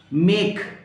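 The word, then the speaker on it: make: मेक, इसमें ई, जो last में ई आता है उसको नहीं पढ़ा जाता कभी भी।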